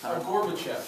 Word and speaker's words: Gorbachev: Gorbachev.